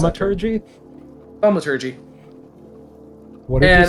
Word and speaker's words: Thaumaturgy: Oh, actually uses thermology. I never figured out how you pronounce Thaumaturgy? Thaumaturgy.